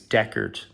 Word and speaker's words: Deckard: so many reviews and people call them deckhard and annoys me it's deckard because in the movie is known as deckard i think it's a maybe a british way of pronouncing decorative deck hard so i'm going back to deckard for the rest of this review anyway so that's his